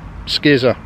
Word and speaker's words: Scizor: Into a shiny Scizor. Scizor? How do you say it? Skizor.